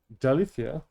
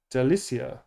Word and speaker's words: Dalicia: Next up is for Dalicia. Dalicia? Dalicia. Delicia. Delicia. It's Delicia. Yeah. Wow. Cool. Something sweet and playful. Delicia. So it's Delicia, not Dalicia. It's spelt Dal, but it's actually Delicia.